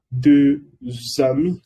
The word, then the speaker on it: deux amis: Plural sería deux amis, como lo decía, se termina con una S y aquí empieza con un vocal, por eso la S se une y se pronuncia Z.